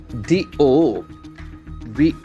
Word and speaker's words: devotee: Now we have a very interesting word, DEVOTEE. DEVOTEE. So the pronunciation is very important. Devotee. Devotee. Okay, it's not devotee.